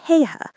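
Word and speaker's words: Haigha: His name is Heiha. He pronounced it so as to rhyme with the word mayor.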